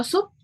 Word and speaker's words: soup: Kalau sup apa, Miss? Sup juga, tapi tulisannya S-O-U-P. Soup. Soup. Bacanya sup, sup.